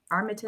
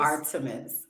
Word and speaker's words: Artemis: the art how do you say it again Armitage Artemis Artemis Artemis okay so a few things you